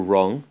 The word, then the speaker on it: wrong: with the letter r except for wrong that starts with like a silent w but you'll see all